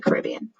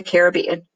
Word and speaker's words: Caribbean: I love the Caribbean, or the Caribbean. Both pronunciations are okay.